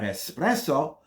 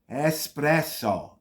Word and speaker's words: espresso: is it I'll have espresso but I'm not gonna have espresso there's no such word espresso the way you see it written is the way it sounds the next one is